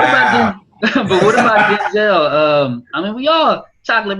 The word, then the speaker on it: Denzel: He said, number one, my father's name is Denzel, but it's pronounced Denzel, and that's the original pronunciation of his father's name.